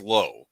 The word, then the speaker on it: Lao: seven faces of dr they actually use both pronunciations they use both in the movie and i get the bigger feeling that people have but he says low yeah he said radically says low okay so lao it